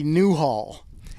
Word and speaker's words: Newhall: Hollywood tours calm now new Hollywood is not new Hollywood it's actually Newhall any WH ALL new Hollywood the reason